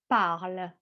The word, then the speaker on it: parles: Tu parles. Remember, the S at the end of a word is silent.